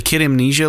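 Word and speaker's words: Kid A Mnesia: looks really cool and the reason i pronounced it kid amnesia because it's kid a is the name of one of the records i believe amnesia is another one they're kind of doing a smoosh there kid amnesia exhibition which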